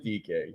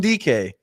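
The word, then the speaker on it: Dike: Jim DK. Come on. Jim DK.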